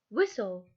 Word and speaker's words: whistle: it moves whistle whistle whistle the t is silent it is very cold